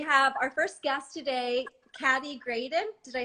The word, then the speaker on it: Khady: And we have our first guest today, Khady Graydon. Did I say it right? It's pronounced Khady with an Khady.